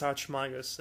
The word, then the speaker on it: Archimagus: I thought it was Ark, you said. No, it's Archimagus.